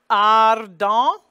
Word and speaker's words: ardent: And it's the bright ah because there is no S following it. It's the usual, and the R is pronounced D-E-N-T. The T is silent, and the E-N is the nasal vowel. So that's why we get the nasal vowel there.